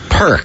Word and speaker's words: Pirq: I'm not an app oh it's meant to sound like a perk like you're getting a perk yeah and you do